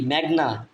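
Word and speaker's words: Meghna: মিয় এম ই মেয় জিএস এর উচ্চারণ হচ্ছে ঘ এর মত মেঘ এন এ না মেঘ না দা ভ্রমপুত্র বি আর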